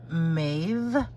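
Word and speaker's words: Meab: um brand once and the b is pronounced like a v v like in victor so it's pronounced maeve ireland and it's an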